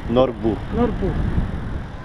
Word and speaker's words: Nordby: Nordby Ja, en daarnet was het wellicht verkeerd uitgesproken. Het is met een "y" en dat spreek je uit als een "u".